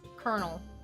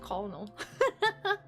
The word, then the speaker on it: colonel: It's pronounced colonel Sanders. Art went. Oh, thank you. Colonel. I don't know why I said colonal, but uh wait, I don't want that art of that.